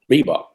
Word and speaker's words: Reebok: Reebok. Easy. 2 syllables.